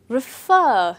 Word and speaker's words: refer: Refer, not refer. That's a common mistake that you hear very often. So it's not refer, it's refer. The last syllable or the second syllable is stressed.